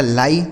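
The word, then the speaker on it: lie: इस आई और ई का उच्चारण आई। देखिए हो गया आपका लाई।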